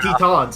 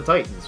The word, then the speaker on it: Titans: to this franchise yeah it's the tetons and not the titans right yeah so uh